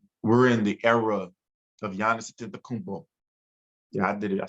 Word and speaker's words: Giannis Antetokounmpo: But I think we're in the era of Giannis Antetokounmpo.